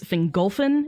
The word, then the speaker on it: Fingolfin: the emphasis right because the emphasis goes on the second to last syllables so it's engulfing not single thing it's fingolfin and phenartha then golfin